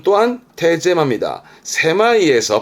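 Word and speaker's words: 狭い: 강가에 그런 편협한 사고를 쓰겠죠 형용사 아주 중요합니다 발음은 세마이 말 그대로 좁다 세마이 좁다 세마이 고통 고짜 있지요 그럼 발음은 세마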